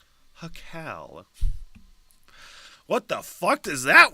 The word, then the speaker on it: jacal: Spelled Jacal, and it looks like it's pronounced Hokal? Hokal? Let's hit the pronunciation. Hakal. Hakal.